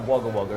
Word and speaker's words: Wagga: It's Wagga, not Wagga Wagga, isn't it? The tourists say Wagga Wagga, locals say Wagga.